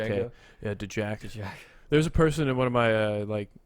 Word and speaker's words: Django: Django.